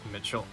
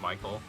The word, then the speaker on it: Michael: appeared in Final Fantasy, people will pronounce it like Mitchell. Either Mitchell or, like I said, Mikhail. And refuse to pronounce it correctly, even though the dev said it's Michael.